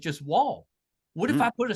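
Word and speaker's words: Wnall: Then they'd be like Winall. Winall. You probably get like, Winall. no, it's just Wall. The N silent. Sorry, the N is silent.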